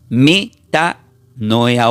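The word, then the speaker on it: μετανοέω: Por eso, esta palabra arrepentíos que se menciona acá en el versículo 17 del griego, esta palabra se pronuncia como meta noea o lo voy a deletear.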